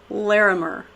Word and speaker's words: Larimer: We have the Godfather of Bitshares, Stan Larimer.